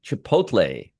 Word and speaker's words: Chipotle: See, I told you I'd be able to pronounce pronounce it the right way eventually. Chipotle.